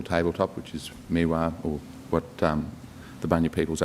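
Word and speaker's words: Meewah: Remains the interest in involvement in the management of Mealbar. It's actually Miwa. And just a small but important correction to the name. It's spelled M-E-E-W-A-H is my understanding of it.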